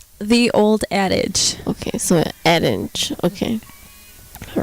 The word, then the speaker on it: Adage: Yeah, we get like Adage a lot, or like Old Age, and I'm just like, really? There's a D in there.